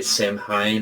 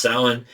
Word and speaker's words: Samhain: Some say Samhain or Samhain, but it's actually pronounced Samhain, and it's obviously the day we celebrate as